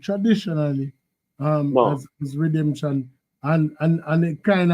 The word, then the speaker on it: Redemsion: So basically with the night is is the pronunciation still redemption or redemption?